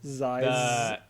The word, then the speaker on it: zyzzyva: I mean, so Ziziva?